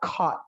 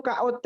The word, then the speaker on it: caught: Kalau kamu bilang, Sir, kemarin aku ketangkep, bule itu bilangnya I got caught yesterday. Caught. Bacanya tuh KOT doang. Caught. Coba bilang caught. Sama kayak bilang mascot, bilang caught.